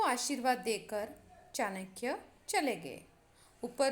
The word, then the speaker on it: आशीर्वाद: अब इसका उच्चार हम जैसे विसर्ग, जैसे दो हलंत आते हैं, उसका उच्चारण करते समय जैसे अतः ऐसा उच्चारण करते हैं, वैसे आशीर्वाद।